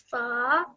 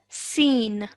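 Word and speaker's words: سين: Sa. Okay, try again. Okay, this is the letter seen.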